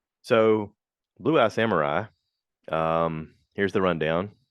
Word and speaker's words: Blue Eye Samurai: It's called Blue Eyed Samurai. Blue Eye Samurai. I've been saying it wrong. I've been pronouncing it past tense with like blue eyed. It's Blue Eye Samurai. So, Blue Eye Samurai, here's the rundown.